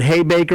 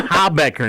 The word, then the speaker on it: Habecker: yes sir all right I've heard hey Baker I've heard how Beckert but it's a ha Becker now yes good and